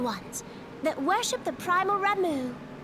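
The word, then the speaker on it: Ramuh: They look like gisselcreens, floating ones, that worship the primal Ramu. Ramu, that's how you say that name. We gotta remember that. Because I'll call them everything under the sun, but Ramu. H is silent.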